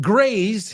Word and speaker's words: graze: Graze rhymes with maze, laberinto. Rhymes with phase, fase. Rhymes with ways, caminos, right? Or formas.